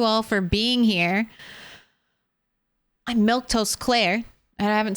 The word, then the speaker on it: Milquetoast: for being here I'm milk toast Claire and I haven't said my name in case you're wondering how to pronounce that grouping of letters just the way you think it is milk toast but uh let's see